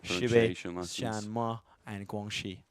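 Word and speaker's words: Xinjiang: a pronunciation H here the X in and Guang is a sh sound not a z sound so sh and Guang there you go but Poland's de clear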